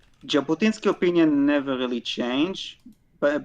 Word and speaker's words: Jabotinsky: and um Jab Jabatinsky how do you pronounce his name? Jabotinsky. Jabotinsky.